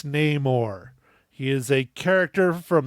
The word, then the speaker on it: Namor: the character Namor and it is pronounced name or it is not no more that's some Disney they made up it's Namor he is a character from the Marvel Universe going back to 1939.